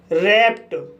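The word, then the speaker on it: wrapped: जैसे रैप्ट, रैप्ट word में पी के बाद ई डी आया है, इसलिए डी का उच्चारण ट होगा, इसलिए इसे रैप्ट पढ़ा जाता है।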